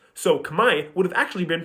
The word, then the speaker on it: Khmer: The R is spelled in the word because historically it was pronounced.